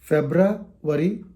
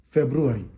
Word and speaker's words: February: r y ending words it's not Jana worry febrra worry it's wrong January February g i g a